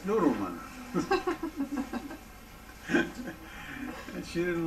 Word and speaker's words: Nudelman: He says, N-U-D-E-L-M-A-N. I said, that's not Nudelman, that's Noodleman.